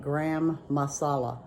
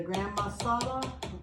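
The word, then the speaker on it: garam masala: So this is how you say it, gram masala.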